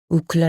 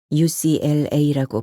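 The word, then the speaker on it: UCLA: 친구들은 중학교 내내 붙어다니며 우클라 아는 서클을 결성했는데이는 시장에서 산 모자에 적힌 그럴사한 영 단어에서 따온 것이었다 우클라 미국에 위치한 명문 대학이며 ucl 라고 발음해야 한다는 사실을 알게 된 건 나중에 일이었다 우클라 1 우클라 2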